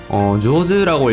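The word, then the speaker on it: 上手: 이제 조즈다라거나 해타다 라고 하는 거를 보면은 조즈라고 읽히면은 솜씨가 좋다, 실력이 좋다, 스킬이 좋다 이런 의미가 되고, 베타라고 읽으면은 반이어로 이제 솜씨가 나쁘다 라고 하는 건데, 한자랑 전혀 상관없는 발음으로 읽히고 있죠.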